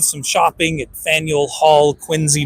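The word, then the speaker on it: Quincy: shopping at Fel Hall quinsey Market quiny is how they say it that was fun but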